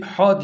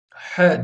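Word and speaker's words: ح: He ince bir harftir bu harfi ha diye okumuyoruz he diye okumamız gerekiyor bazıları yanlış yapıyorlar bunu ha diye okuyorlar ha değildir Çünkü ince bir harftir burada ince ile kalın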